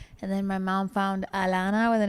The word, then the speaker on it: Alana: Well, so it's Alana. It has an H, but it's a silent H because in Spanish you don't pronounce the H's.